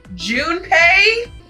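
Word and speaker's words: Junpei: Guys, I've been mispronouncing it this whole time and nobody told me. None of you told me June pay. Well, my bad. She pointed toward June pay.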